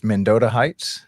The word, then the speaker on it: Mendota Heights: And so make sure I'm pronouncing this right. It's Modota Heights. Am I saying that right? Yep. You got it. I'm all decked out in my gear. Menota Heights, Minnesota.